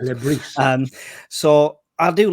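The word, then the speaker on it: Le Bris: Apparently, he pronounced the S's. I was told Lebris.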